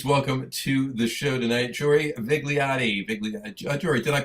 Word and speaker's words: Jory Vigliotti: Anyway, I pronounced it right, Jory Vigliotti.